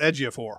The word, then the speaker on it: Ejiofor: It's Ejiofor or whatever. Oh, Chiwetel Ejiofor.